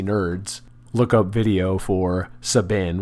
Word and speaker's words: Sabin: And for non Final Fantasy nerds, look up video for Sabin, which is spelled like cabin but with an S, or perhaps Sabin if you prefer, Sabin suplex phantom train.